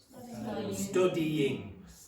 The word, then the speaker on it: studying: If you have ing, this is always a syllable on its own.